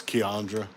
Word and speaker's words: Keandre: burs mac and cheese how do you say ke Keandre it's keandra but they she said